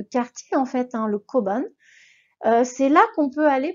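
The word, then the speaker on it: 交番: Le koban, koban. Pareil que tout à l'heure, j'ai un chapeau sur le haut, donc il faut un petit peu allonger mon son haut.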